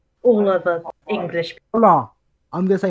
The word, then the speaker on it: hola: Hola. I'm going to say hola. Hola. Hola. Hola. You don't pronounce the H.